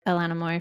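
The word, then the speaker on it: Ilona Maher: like Instagram reals so I'm a big like Elana Mo fan is that how you say her name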